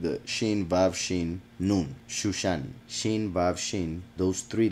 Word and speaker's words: Shushan: That's why it's Shush and ends with a Nun, and it is pronounced the whole thing Shushan.